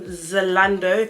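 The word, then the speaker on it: Zalando: a size seven yeah i ordered this from zolando that's how you pronounce the website one thing about me guys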